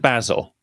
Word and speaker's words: Basel: It's pronounced Basil.